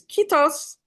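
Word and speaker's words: kiitos: Is kitos and you have to say it like that.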